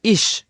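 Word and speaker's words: ich: স নরম বাতাস ছেড়ে স উচ্চারণ হবে। যেমন এখানে দেওয়া আছে ইশ।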